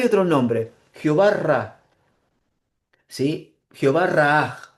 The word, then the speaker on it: Jehová Raah: Jehová Raah, algo así se pronunciaría, porque tiene un doble A y una H al final, que significa Jehová es mi pastor, nada me faltará.